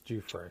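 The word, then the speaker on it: Giuffre: to say her name again i think it's due frank right that's right it's hard right g-i-u-f-f-r-e roberts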